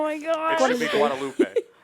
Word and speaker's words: Guadalupe: should be Guadalupe. My abuelita has a friend named Guadalupe, and that's how she says it. Guadalupe. Guadalupe. Guadalupe. Yeah. That's how you say it.